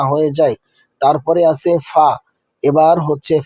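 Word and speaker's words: ف: তারপরে আছে ফা। এবার হচ্ছে ফা।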